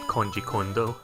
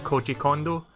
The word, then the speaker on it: Koji Kondo: love the song it's so weird that like kanji Kondo Khan I probably butchered his name koji kondo as well - he's like composing music for